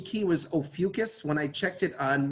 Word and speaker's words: Ophiuchus: that look for a while i used to pronounce it oh ficus i suspect that's the real pronunciation but the the pronunciation key was ophiuchus when i checked it on miriam webster so many people say oh fucus i say oh ficus here's the thing um